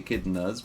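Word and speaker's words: echidna: I guess I think most people say akidna as the plural like as in cuz you can say akidners because it's English or you can say akid nay because Latin but I think most people say akidn pronounce it as akidna also um claws.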